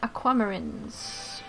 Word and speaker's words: aquamarines: No, wait. The stress is the third from the end. Aquamarines. Yeah, it would be aquamarines, like sarcophagus. The stress is on the third syllable from the end, in long words. Usually in English.